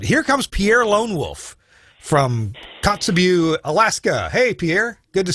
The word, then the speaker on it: Kotzebue: longest distance but here comes pierre lonewolf from kotzebue alaska hey pierre good to see you hello there how are you doing i'm good did i pronounce cups of you correctly yes uh kotzebue or chikita rook in